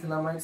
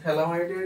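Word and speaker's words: phthalimide: এই গ্রাভিয়াল থ্যালামাইড সিন্থেসিস রিএকশনটা আগে কি সেটা একটু ডিসকাস করি।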